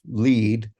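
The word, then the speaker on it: lede: to spell lead differently it's l-e-d-e yes otherwise if you spell it led you might make the mistake of saying lead instead of lead and that wouldn't be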